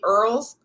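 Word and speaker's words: IRRRLs: question about the va earls they call it earls but it's spelled v-a-i-r-r-l-s go to va.ca.gov make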